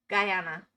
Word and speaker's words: Guyana: Guyana. It's just like guy. Like guy and banana. It just doesn't feel right in my mouth. Guyana, is that it?